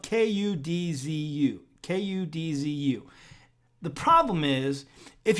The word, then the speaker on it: kudzu: And kudzu is something that grows, rampant where we live.